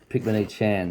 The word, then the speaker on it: Pichmonychan: Yes, Picmanee-Chan is the pronunciation.